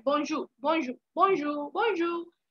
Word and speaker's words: bonjour: हाय जो bonjour है bonjour bonjour bonjour bonjour तो आर पीछे साइलेंट है bonjour तो वो है वो